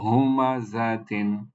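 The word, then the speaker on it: همزة: এরপরে তা মারবুতা, তার নিচে তানবিন কাসরা, এর উচ্চারণটা হবে তিন। তাহলে এই শব্দ, এটাকে আমরা কিভাবে তেলাওয়াত করতে পারি? ও হুমা জাতিন, হুমাজাতিন, না, হুমাজাতিন, হুমাজাতিন, এভাবে হুমাজাতিন, এভাবে তেলাওয়াত করব।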